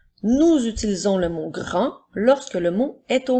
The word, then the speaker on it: grand: une fois le mot Grand est un adjectif il s'écrit j'ai R a n qui font le son 1 et la lettre D est une lettre muette alors nous avons grand nous utilisons le mot